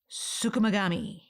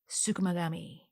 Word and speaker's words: tsukumogami: was inspired by me learning a new word sukami that is spelled TS u k u m o g a m i sukami it is obviously a